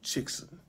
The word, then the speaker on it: Chixen: kansas city kansas area head over to chickson chickson c-h-i-x-e-n pronounce c-h-i-c-k-s-o-n so go ahead and